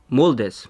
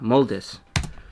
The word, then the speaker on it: moldes: Um, in Spanish it's called moldes. Moldes. Yeah, moldis. It's like molds but just with a l e s.